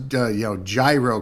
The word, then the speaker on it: gyro: pronounce uh you know gyro correctly it's hero it's gyro yeah yeah yeah you have to pronounce the g i want a gyro